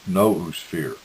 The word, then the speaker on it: noosphere: Raymond phonetically pronounces the word as noosphere, and it is defined by him as the territory of ideas, the space of all possible thoughts.